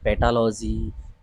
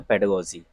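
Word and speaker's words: pedagogy: हैं पेडागोजी क्या है पेडागोजी इसका सही उच्चारण है कुछ लोग इसे पेडोलॉजी पेडागोजी या पेडागोजी कुछ मतलब इस तरीके के भारी भारी वर्ड बोलते हैं बट इसका जो सही उच्चारण है वह है पेडागोजी ठीक है ना क्या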